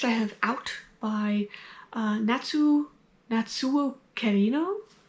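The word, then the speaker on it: Kirino: Next I have Out by Natsuo Carino. I'm pronouncing that in a Spanish way, but it is Japanese.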